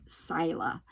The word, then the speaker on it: Saila: And the doll that I'm talking about is an Inuit doll named Saila. So it's supposed to be, you know, it's not, it's spelled S-A-I-L-A, but it's pronounced Sila.